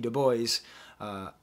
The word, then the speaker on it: Du Bois: report w.e.b du bois it's so hard to pronounce his name not french wb du bois used to carry a